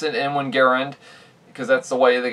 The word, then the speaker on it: Garand: out of an m1 garand which yes i pronounce it in one garand because that's the way the guy wants his